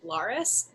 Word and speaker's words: Larus: Okay, so my rogue is named Gleek Laris. Gleek is spelled Gleik, and Laris is spelled Larus.